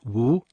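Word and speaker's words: 無: and practice of emptiness emptiness in Chinese is pronounced Wu when the term emptiness is used in Taoist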